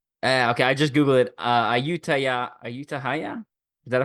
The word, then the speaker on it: Ayutthaya: Ayutthaya? Is that how I pronounce it?